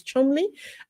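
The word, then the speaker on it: Cholmondeley: the matchness of shon the pronunciation is Chumley and Prince William lawyers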